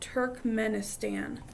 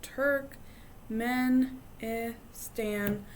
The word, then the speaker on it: Turkmenistan: there's Tajikistan Uzbekistan and Turkmenistan and these are this one is the longest but if you sound it out Turk men e Stan you should be able